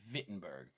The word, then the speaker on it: Wittenberg: the 95 theses to the church door in wittenberg germany it's actually spelled with w but it's pronounced wittenberg and that was in the year 1517 this